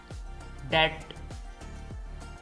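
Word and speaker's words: debt: silent है डाउट शक डेट इसमें भी बी साइलेंट है डेट कर्ज सब्बल लतीफ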